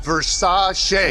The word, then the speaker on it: Versace: Gianni Versace was shot on the steps of his villa. Pronounced Versace.